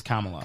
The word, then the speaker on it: Kamala: hysterically she just Kamala you got to pronounce it right it's Kamala SOA yeah so we've